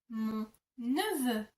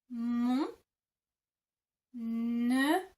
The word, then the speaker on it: mon neveu: And for nephew, you would say mon neveu. Mon neveu. Mon neveu.